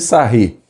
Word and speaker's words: Sarrus: regra de sarre né Tá aqui o nome do camarada tá escrito eles a Huge mas ele é francês é pronúncias a rir então regra de sair o que que sarre